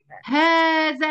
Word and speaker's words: هذا: ما احناش احنا نطقناها هذا، المفروض نكتبها؟ لا، لأن ده قاعدة بتقول إن دي حروف حرف الألف في أسماء الإشارة. هذا وهذه وهذان وهؤلاء حروف تنطق ولا تكتب.